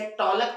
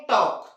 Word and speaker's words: talk: उसी तरह से TALK, इसे टॉलक पढ़ते हैं क्या? नहीं। क्या पढ़ते हैं? टॉक।